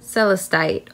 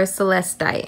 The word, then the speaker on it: celestite: tourmaline it's so cute celestite or celestite however you choose to pronounce it now this is actually